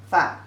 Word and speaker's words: 饭: So if people say 吃饭, 吃饭, eat your meal, have a meal, 吃饭, 饭.